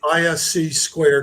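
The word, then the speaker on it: (ISC)²: Consortium I know that's a lot but it's ISC squared is how it's pronounced from there you can get two designations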